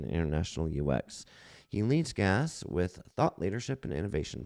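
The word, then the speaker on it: GaaS: We pronounce it GAS, G-A-A-S, Globalization as a Service.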